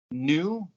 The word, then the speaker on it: gnu: baboons and giraffes and new gnu the g is silent and emus and waterfalls